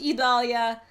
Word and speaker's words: Idalia: on this into the overnight and it is pronounced Italia I have double checked with the National Hurricane